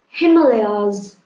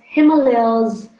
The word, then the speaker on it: Himalayas: yes that is wisdom Himalayas you have to pronounce it as Himalayas not Himalaya this is Indian excellent event pronounce it as Himalaya it should be Himalayas speaking again as well